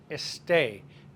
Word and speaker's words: esté: And estar, it's estoy, it doesn't end in O, it's irregular, esté. Accent on the E, the last E of esté.